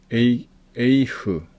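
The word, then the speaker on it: אֵיךְ: 에이흐, 이거 이중모음입니다. 그래서 에이라고 발음해 주셔야 되고요. 점이 없을 때는 흐 발음한다 했습니다.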